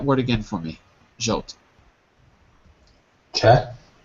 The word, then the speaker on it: Czech: Say that word again for me, Jolt, Czech, with a k at the end. Czech, Check. Czech.